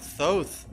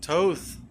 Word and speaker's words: Thoth: Because now you should be wondering, you look at images of Thoth or Toth, however you want to say his name.